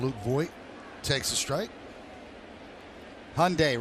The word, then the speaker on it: Hyundai: voy takes a strike Hyundai rhymes with Sunday there you go voy